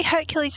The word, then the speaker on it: Hercules: love that film although technically Hercules is the Roman pronunciation Heracles is the Greek pronunciation sir I have music